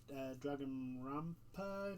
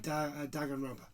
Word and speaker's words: Danganronpa: However, following that was from a game from the people that make Dragonrampa, if I'm pronouncing that right. Danganronpa.